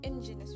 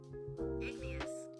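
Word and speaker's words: igneous: But that was engineous rocks. I should actually ask how it's said. or how it's pronounced because I'm probably saying it wrong. So, let's see how it's pronounced. Ignous.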